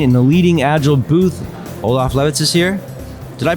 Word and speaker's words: Olaf Lewitz: Olaf Lewitz is here. Did I pronounce it right this year?